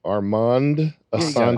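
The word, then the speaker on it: Armand Assante: Don't know how it's spelled. Yeah, you do. That's it. Armanda Sante. Armand Asante.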